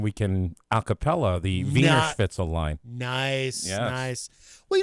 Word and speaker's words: Wiener Schnitzel: But, I said it wrong. I'm sorry. Yeah, V, not W. Yeah. Wiener Schnitzel. Wiener Schnitzel or something.